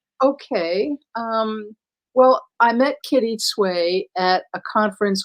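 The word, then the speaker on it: Tsui: Is it like it was swaying? So Kitty Sway with a little bit of a TS at the beginning.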